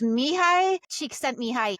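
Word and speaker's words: Csikszentmihalyi: So I asked Chachi PT how to pronounce it and this is how you pronounce it. It's Mihi. Cheek sent me.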